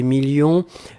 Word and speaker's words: millions: la fin 2 millions on ne prononce pas le s mais il est là ensuite signature mais ici